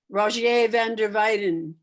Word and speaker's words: Rogier van der Weyden: Or D, I don't know how to pronounce that Roger spelt that way. I think it's like Roger. What'd you say, Linda? Rogier van der Weyden.